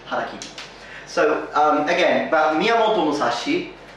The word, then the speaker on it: harakiri: And I've even heard some people mispronounce it to karakiri, but that's wrong. It's hara with the H, harakiri.